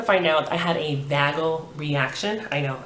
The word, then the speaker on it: vagal: out, I had a vagal reaction. I know, I wanted to say vaginal because it's almost spelled like that, but a couple of letters are missing, but it's vagal, V-A-G-A-L reaction.